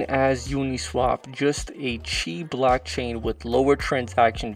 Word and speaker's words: Qi: by the name of chi Dex here we are on the landing page of chi Dex as you can see it's a bit confusing at first Qi is pronounced Chi and Dex all the